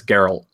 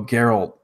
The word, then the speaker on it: Geralt: you say it is a I think it's garel Oh Geralt okay I'm gonna mess that up a bunch yeah anyway it was kind of a they kind of teased that Geralt was gonna come to a different game in